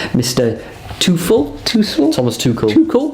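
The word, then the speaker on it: Tuchel: two full toothless thomas too cool that's how you pronounce it like a toucan yeah exactly chelsea beating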